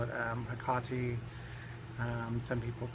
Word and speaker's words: Hecate: The original was Hecate. Some people call it Hecate. Some people call it Hecate.